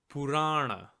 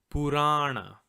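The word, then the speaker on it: पुराण: We're going to write the word Purana. Purana. First step, as always, break the word by syllable. If you listen carefully, you'll see that this word has three syllables. Pu, ra, and ra.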